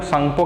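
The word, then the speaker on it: Tsangpo: River है इसको Yarlung सांगपो कहते हैं। कहाँ, तिब्बत में। इसके नाम याद रखना, कई बार क्या होता है एग्जाम में लिखा होता है सांगपो, टी साइलेंट है इसमें, और ऐसे NGPO लिखा है।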